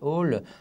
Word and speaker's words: Hole: la série des Harry Hole. Il paraît qu'il faut dire Harry Houlet, mais moi, j'y arrive pas.